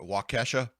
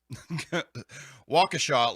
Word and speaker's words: Waukesha: waukesha uh what's uh matt walsh calls it wakasha i think he knows he's pronouncing it wrong waukesha locals describe the chaotic